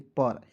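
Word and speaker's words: per: clear और देखिए यू से छोटा ऊ की मात्रा पी ई आर को दोस्तों पढ़ते हैं पर पे नहीं पढ़ते यहां पे इ को हम लोग साइलेंट करते हैं क्योंकि थोड़ा सा ये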